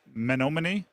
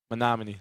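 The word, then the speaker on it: Menomonee: Um who's a bigger You have to help me on the pronunciation. Is it Is it Manomin? Monomin.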